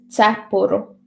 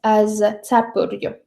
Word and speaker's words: cepuru: And for example, the genitive plural of cepure, hat, is cepuru, but may be pronounced as cepurju.